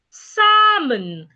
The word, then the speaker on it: salmon: Salmon. The L is silent.